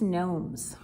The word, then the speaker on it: gnome: we are making christmas gnomes do you know how to spell the word gnome it's got a g in the front so even though we don't pronounce it we don't say gnome